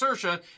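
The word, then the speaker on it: Saoirse: she's fine the only reason I know is pronounced sersa is you have sersa Ronin who is the more successful of the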